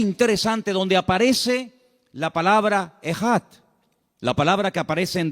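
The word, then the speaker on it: אחד: Y esa palabra, el Señor, nuestro Dios, es uno, es una palabra que se pronuncia Echad. E-J-A-D. Echad.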